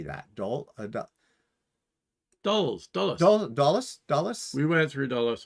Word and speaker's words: Dulles: Dulles.